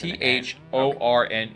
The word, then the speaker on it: Thorne: Thor Thorn oh there's t h o r n e and there's a a silent E okay okay Thorn thorny